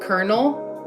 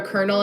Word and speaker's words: colonel: a military title called colonel. Like if someone's like a colonel in the mil military, it's pronounced like K E R N E L.